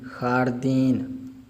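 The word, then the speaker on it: jardín: खारदीन, खारदीन, खारदीन।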